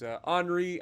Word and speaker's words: Henri: the rest of us some would call it the Henry ivth but hry I know is is as close to the right way to